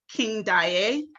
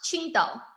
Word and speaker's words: Qingdao: 13 years old, and you were born in Candied. Correct me if I'm not saying that correctly. It's pronounced Qingdao. Qingdao, okay. Qingdao, yeah.